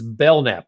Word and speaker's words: Belknap: like his name is Belknap. I'm so glad we talked before the show. He told me his name is Belknap. The K is silent, and he's with Port Bell SEO.